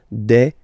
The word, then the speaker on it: des: S at the end and as we said you don't pronounce it so you get de okay de so un